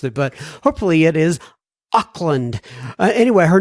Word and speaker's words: Auckland: I don't remember how I pronounced it, but hopefully it is Auckland.